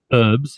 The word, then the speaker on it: herbs: herbs all day or herbs if you're hurt yeah what's what's with that Danny you guys don't pronounce the the H in herbs you just say herbs yeah can you see